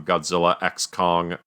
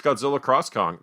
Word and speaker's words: Godzilla x Kong: title um but uh do you think it's pronounced Godzilla X Kong I just say that because there's a video game called Street Fighter X Tekken for the franchises fight each other but it's pronounced Street Fighter cross Tekken maybe it's Godzilla cross Kong that would also be cool I accept that still